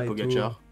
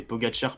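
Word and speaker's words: Pogačar: Et Pogacar, pas Pogacar. Pogacar.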